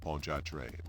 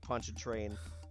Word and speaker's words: Pontchartrain: zombie zombie you know this sounded like poncho train the way that he pronounced it you can tell